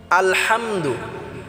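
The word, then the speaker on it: الحمد: আলহামদুলিল্লাহি রাব্বিল আলহামদু আল হামদু অনেকে আছি আমরা আলহামদু বলি আল এটা আমরা আলা অনেকে বলি হাম এটাও আমরা হাম হবে না আলা হাম হবে না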